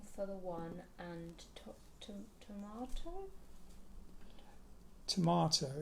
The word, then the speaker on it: Tormato: Tomato. It's spelt Tormato because there was a rock formation in Devon called Yes Tor, T-O-R. Those rock formations are called tors.